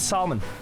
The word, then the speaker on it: salmon: I made salmon and it was a salmon with a big L.